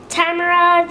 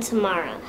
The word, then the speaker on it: Tamara: to pronounce my name Tamara Tamara and tomorrow I was actually named tomorrow which I feel a lot of people don't know that and it's not actually my favorite pronunciation of my name although it is technically